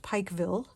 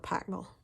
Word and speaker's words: Pikeville: Most people would look at it and say it's pronounced Pikeville, Pikeville, but if you are from there, you call it Pikeville.